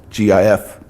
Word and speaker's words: GIF: If you can come up with a fun GIF, G-I-F, people pronounce it GIF, but it's really GIF.